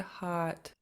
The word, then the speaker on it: haat: You sound good, and then just make sure you're pronouncing this T at the end. Hot.